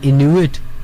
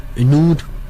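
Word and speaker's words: Inuit: वहां पे भी बहुत ही कम गिनती की एक आबादी रहती है जिन्हें इनुइट कहते हैं। इनूट, अलग अलग उसकी प्रोनाउंसिएशन है, उनकी जबान भी अलग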